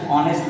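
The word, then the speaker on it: honest: ही is dash ऑनेस्ट मैन, तुम अगर पहला नजर में देखोगे ना तुम गलती कर जाओगे।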